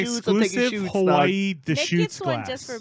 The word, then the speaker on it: Deschutes: Very exclusive to Hawaii, with the Hawaii Islands on it, and instead of Deschutes, which is spelled with the CH, Please tell me it's the shoe. it's Deschutes, Oh, brah. wait. Da shoots.